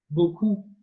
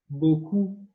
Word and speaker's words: beaucoup: And to say a lot, you say in French, beaucoup, beaucoup, beaucoup. So for this, we're gonna imagine in your head, you imagine your boss, and she or he has plenty of money in front. And so boss, the beginning, bo, is the trigger for beaucoup.